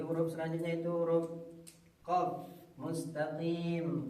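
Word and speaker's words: مستقيم: Kemudian untuk bersikat waktu di huruf selanjutnya itu huruf qaf mustaqim. Kebanyakan orang mengucapkannya mustaqim, huruf kaf dibacanya.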